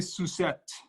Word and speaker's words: Suzette: I would say Suzette. Suzette, okay, that's like better. Like a crepe Suzette.